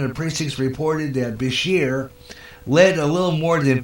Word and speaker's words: Beshear: because this Beshear beat I pronounce it this year apparently and I'm waiting for it to come up again and it's not coming out of either it is apparently Beshear there's like a 5,000